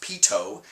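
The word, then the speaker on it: Pitot: measuring observation is a Pito tube uh I I draw your attention to the word is pronounced Pito uh Pito was a French engineer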